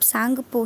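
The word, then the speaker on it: Tsangpo: है यह छुट्टी है यह टीम साइलेंट होगा इसे आप सांगपो ही पढेंगे लेकिन टीम लिखेंगे अब हैं तो नेक्स्ट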